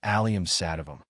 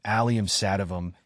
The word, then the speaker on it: Allium sativum: taste how to pronounce aliam satam the pronunciation of aliam satam is fairly straightforward once you break it down it's pronounced as emphasize the first syllable of each word and you'll be saying